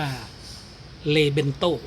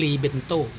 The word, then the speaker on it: LEBENTO: นะ ครับ ดี หรือ มี ชื่อ เรียก ว่า เรเบน โต้ หรือ รี เบนโต้ ก็ แล้ว แต่ จะ ออก เสียง นะ ครับ คะ ซึ่ง